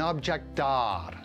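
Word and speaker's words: objet d'art: of wood into an object d'art. The T is silent, it's French.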